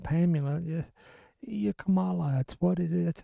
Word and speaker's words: Kamala: Even she said Kamala because that's how it's pronounced. You could say, hey, it's Kamala, but that's just because you put a K